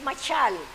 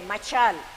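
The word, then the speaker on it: משל: refrán en en hebreo es machal se escribe con s h a y L machal y es y es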